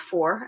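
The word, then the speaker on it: Fore!: this Sports and four I think it's pronounced four f-o-r-e right um ow thank you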